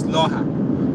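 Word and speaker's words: Lohja: But in Finnish here, J sounds like Y, so it's Loha.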